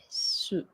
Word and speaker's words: reçu: Or like here, reçu.